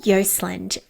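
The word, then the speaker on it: Joseland: So Carol Yosland and Carol's surname is spelled J O S E L A N D and I'm going to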